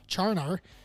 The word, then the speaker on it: Charnar: And also, it's pronounced exactly how it sounds, Charnar.